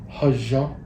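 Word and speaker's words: hózhǫ́: Yeah, so in our Navajo culture, we have a phrase that is commonly pronounced hajan, and it translates very roughly to balance or finding balance or living in balance.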